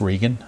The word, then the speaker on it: Regan: In fact, I know it's pronounced Regan. Now I remember.